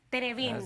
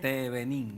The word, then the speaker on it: Tevenín: Muchísimas gracias, doctor Francisco Tenevín. ¿Lo pronuncié bien? Tevenín. Tevenín.